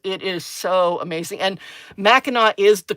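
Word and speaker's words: Mackinac: And Meno is the correct pronunciation for Machinak. So those of you who are looking at um, Erica's comment and going, "Oh, that looks like Macak."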